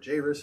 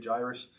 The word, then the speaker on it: Jairus: Jairus, yes, or Jairus, how some people pronounce it. I would say Jairus.